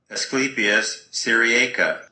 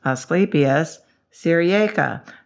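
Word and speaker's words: Asclepias syriaca: because he sounds so into his job ready asclepius sirieca asclepius sirieca that's the one you want for your for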